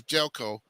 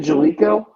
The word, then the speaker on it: Jaleco: I thought it was Jailco. He pronounced it Jalico, I used to call it Jailco.